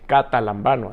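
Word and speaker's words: καταλαμβάνω: los mencionamos catalán vano el catalán vano así se pronuncia tiene el significado metafórico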